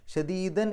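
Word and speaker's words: شَدِيدًا: നിർത്താതെ ഓതലാണ് ഏറ്റവും നല്ലത് ഇനി അവിടെ നിർത്തുകയാണെങ്കിൽ ശദീദ എന്ന് പറഞ്ഞിട്ട് കാരണം ഫത് തൻവീൻ അല്ലേ അപ്പോ ഫത്ഹ ഇട്ടിട്ട് രണ്ടക്ഷരം നീട്ടു മദ്വ അങ്ങനെയാണ് നിർത്തുകയാണെങ്കിൽ നിർത്തേണ്ടത് നിർത്താതെ ഓതലാണ് നല്ലത് അങ്ങനെ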